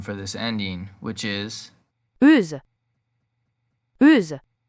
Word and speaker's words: euse: Now, there is also a feminine form for this ending, which is Euse. Euse. This is pronounced the same but with a Z sound at the end.